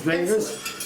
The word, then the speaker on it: Davies: If you want a one-page history of Ukraine, there's a book by Norman Davis, Fantastic. written Davies, but the pronunciation is Davis because he's Now- Welsh, not English.